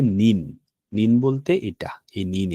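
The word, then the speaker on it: 人: যখন এরকম দুইটা কাঞ্জি ডবল বসেছে, সেক্ষেত্রে আমরা এখানে ব্যবহার করব যে এই কাঞ্জিটার উচ্চারণ হবে যে নিন। নিন বলতে এটা, এই নিন এটা। আচ্ছা, তাহলে জিনটা কখন বসবে?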